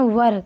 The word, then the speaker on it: were: तो बढ़ते आगे, अगला शब्द हमारा वर, WERE, लेकिन इसको हम पढ़ते हैं वर।